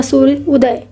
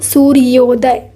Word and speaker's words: सूर्योदय: ओ का उच्चारण होने से ही ये सूर्योदय हुआ, अदरवाइज इसका आंसर क्या होता, सूर्य उदय। इसे हम कैसे पढ़ते, सूर्य उदय ऐसे पढ़ते, बट एक्चुअल उच्चारण क्या होना चाहिए, सूर्योदय।